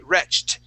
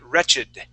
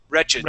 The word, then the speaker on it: wretched: defy those rules, because usually if we have a word that ends with a ch sound, okay, or a ch, okay, like match, it would be matched. It would end with a T sound. But this word, we do not say wretched. Okay, we say wretched. Wretched.